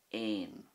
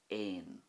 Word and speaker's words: éan: But if you think of this word here, which is the Irish word for bird, and that is ain, ain, you can see the difference that a fada makes.